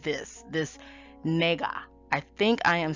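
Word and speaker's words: nāga: i am saying correctly it's spelled n a g a the first a has a line over it where you know you say the a as in a it's not ah so it's so it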